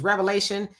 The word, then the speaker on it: Revelation: When I was um um looking at that scripture, I laughed about that because most people do pronounce it revelations. It's revelations, but it is revelation.